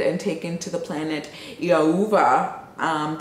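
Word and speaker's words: Thiaoouba: taken to the planet Iauva. The T is silent, but it's spelled T-H-I-A-O-O-V-A or B-A, but the B is a V.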